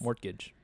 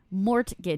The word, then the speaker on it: mortgage: Mortgage. Mortgage. There's a T in it. It's he he just he he pronounces it wrong, but he says all the letters.